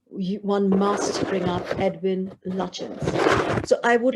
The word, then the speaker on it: Lutyens: So last month in the French gardens, I had pronounced the architect's name, Edwin, I had said Lutyens.